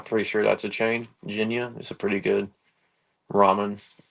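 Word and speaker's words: Jinya: Ramen because of my fiance and I think Ginia I'm pretty sure that's a chain Ginia is a pretty good Ramen I'm big fan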